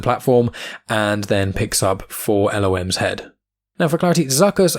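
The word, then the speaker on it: 4-LOM: will probably end up calling him fulham even though he's not really in these comics that much going forward um just because fallon is easier to say but i think the maybe correct pronunciation is for lom but you would recognize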